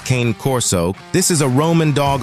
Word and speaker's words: Cane Corso: It is pronounced Cane Corso.